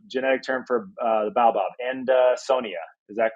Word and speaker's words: Adansonia: Adansonia. Is that correct? Adansonia, yeah. Named after a guy called Adanson.